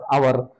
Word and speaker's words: hour: In these examples the letter H silent letter and is produced as hour with the vowel sound, so take the article and rather than a.